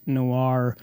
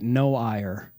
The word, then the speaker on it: noir: the Shure MV7 white noir, the white buffalo, the white whale, the white unicorn. No, it's the white noir, not the white no-ire, or a lot of people, they don't know how to pronounce that, Jim.